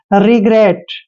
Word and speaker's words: regret: Next word है REGRET, देखिए आर का उच्चारण रे करते हैं, ई को छोटी की मात्रा पढ़ते हैं और जी का उच्चारण यहाँ पे गे करेंगे, क्योंकि जब भी जी के बाद कोई कॉन्सोनेंट होता है तो जी का उच्चारण गे करते हैं। और आर को हमने रे पढ़ना है, ई को ए की मात्रा पढ़ते हैं और टी को टे पढ़ते हैं।